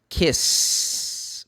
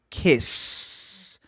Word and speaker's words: kiss: Às vezes eles falam, mas a palavra é kiss. Primeiro que não é nem ki, é kiss.